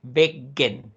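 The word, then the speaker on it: väggen: No es lo mismo decir Wegen, que es el camino, a decir Weggen. Weggen. Cortito, bien cortito. Weggen.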